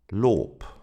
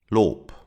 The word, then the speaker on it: Lob: Other examples are Lob. Lob. Do you hear the P sound at the end? Lob.